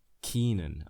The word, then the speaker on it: Kenan: How do you pronounce his name? Keenan? I have to look that up. Gil Kenan, pronounce name. Okay, it's telling me how to pronounce Gil, bruh. Keenan, okay.